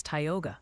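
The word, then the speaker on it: Tioga: Theians are staging a minor revolt over Tyogga County. Apparently, it's Tyogga. Just FYI before they send carrier pigeons with pronunciation guides attached.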